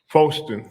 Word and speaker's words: Foston: Foston. Foston, just like it's spelled.